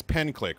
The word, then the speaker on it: Penciick: That's what you pronounce it as on Twitch. Yes, pen click, sure. But it is the spelling is no. Don't change it. Is Phil that just went in and changed it on the dock. He's like, that's not spelled correctly. Oh, It's actually Penciick, but it's pronounced pen click.